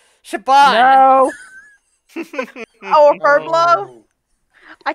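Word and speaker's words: Siobhan: And at this I point- look at it when I'm reading it in my head and go Syobin, and I know it's pronounced Shaban.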